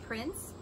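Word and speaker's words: Prynts: oh look at this one this is called prince prince and it's spelled p-r-y-n-t-s and that's by bleecker street but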